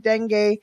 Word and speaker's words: dengue: I think it's pronounced dengue.